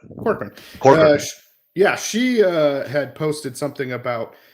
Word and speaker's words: Corcoran: How do you say your last name? Corcoran? Yep. Corcoran.